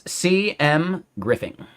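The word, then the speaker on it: C.M. Griffing: Um, Vertex, the way to pronounce my name, it's CM Griffin, right? It's my initials and then my last name.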